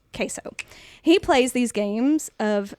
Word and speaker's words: CaseOh: Not spelled like the cheese. Right. It's Caseoh. Queso.